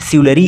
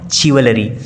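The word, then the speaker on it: chivalry: फिर अगला वर्ड है सिवलरी, देखिए इसका प्रोनाउंसिएशन आपको सही करना है, सिवलरी, इट इज़ नॉट चिवलरी, तो आपको इसका सही प्रोनाउंसिएशन करना है।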